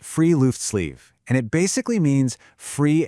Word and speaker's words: friluftsliv: It's pronounced Friluftsliv, and it basically means free air life.